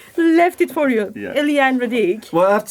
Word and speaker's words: Éliane Radigue: Éliane Radigue. Well, I have to say, my French pronunciation is not brilliant at all.